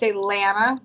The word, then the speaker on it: Lana: I say Lana. Lana. I say banana. Banana. Lana. Banana. Yeah.